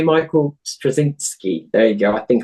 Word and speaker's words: Straczynski: John Michael Krasinski. I can never pronounce the name. Oh, what's his name? God damn it. J. Michael Straczynski.